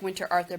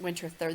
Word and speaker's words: Winterthur: that it says Winterthur it looks like winter Arthur but it's pronounced Winterthur this is in Delaware